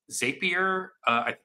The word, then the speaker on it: Zapier: But it's something that I think, like, if you've ever used something like Zapier, Yep. I don't know. Yep. Yeah, that's how it's pronounced.